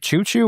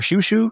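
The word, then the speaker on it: Chouchou: Uh, I'm going to I know we've had an argument about how to pronounce his name. Choo Choo or Shushu the dog? I think mostly been Shushu.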